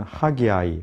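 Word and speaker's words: Haggai: 명칭에 대한 부분을 보시면 영어로는 하기 아이 하기 아이 이렇게 발음을 하고 우리말로는 선지자 이은 그대로 학계 이렇게 제 발음하게 되어 있습니다 특별히 선지자 학계 시대는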